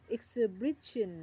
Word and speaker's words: exhibition: Vision เป็น คำ นาม e x h i b i t i o n ออก เสียง เป็น exsibition นะ คะ นิทรรศการ เป็น คำ นาม